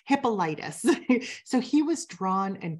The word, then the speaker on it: Hippolytus: sure I get the saints name or the pronunciation of his name right hippolytus so he was drawn and quartered that was